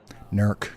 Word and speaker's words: Newark: Also, quick heads up, several folks are adamant that Newark, Ohio is pronounced Nerk. Might want to file that away. Nerk.